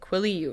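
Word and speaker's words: Quileute: uh creatures so yeah the tribe is called quilly Ute so I apologize I just Googled it quilly you which is how you pronounce the tribe um but that's really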